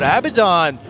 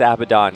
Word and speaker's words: Abaddon: But Abaddon to follow up with Sand King.